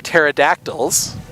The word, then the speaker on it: pterodactyl: to play the plover pterodactyls Wow which is hilarious because it's technically an alliteration but you don't pronounce the P if pterodactyl starts with a piece so the plover pterodactyls